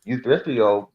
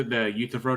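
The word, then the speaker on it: Euthyphro: problems like the you youfo problem I can't pronounce that right but basic The utro Dilemma yeah yeah yeah that's that's how you pronounce it anyway uh you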